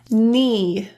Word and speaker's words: knee: If you see a K and an N, you can drop the K altogether. Let's look at some example words. Knack, knave, need, knee, kneel, knelt, new, knickers,